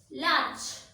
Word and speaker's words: large: Next, in these words, the sound of R is not pronounced. R is silent. Large.